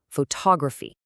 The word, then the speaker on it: photography: Here the PH makes an F sound, and the important part is stressing that second syllable, photography.